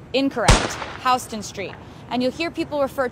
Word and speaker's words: Houston Street: Houston Street, most commonly confused with the pronunciation Houston Street. When you get here and you see the sign, you'll think, oh, Houston, Texas, Houston Street. Incorrect, Houston Street.